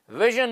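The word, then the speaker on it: vision: नहीं है यह है य है ना जैसे विजन में होता है वी आई एस आई ओ एन कैसे प्रोनाउंस करते हो उसको विजन हा प्लेजर पी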